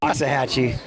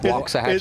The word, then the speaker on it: Waxahachie: Waxahachie. Right? Waxahachie. It's walks. Yeah. Just okay. Just like say it like you're Asian. Got it. Walks.